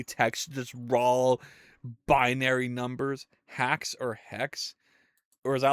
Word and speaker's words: Haxe: That's spelled Haxe. That's okay. Make a game from scratch in Hacks.